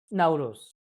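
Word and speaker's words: Nowruz: uh celebration which was uh how do you pronounce the name of the now Rus now Rose yeah it means and what happened what happens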